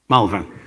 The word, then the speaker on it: Malvern: How do you pronounce Malvern? Malvern.